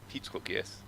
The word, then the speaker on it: Pietruk: Pietruk, yes. Pietruk. I'm gonna remember this. It's too Russian, less Russian pronunciation. Pietruk, just, a bit Pietruk. softer. It's still too harsh.